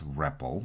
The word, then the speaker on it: REPL: You will hear people pronounce this REPL.